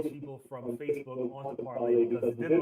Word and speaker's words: Parler: It's pronounced parlay. Which it should be, but because it's America, it's how you say it's Dubois, not Du Bois, but whatever. Okay, so it's Parler. Yes. And it's pronounced parlay.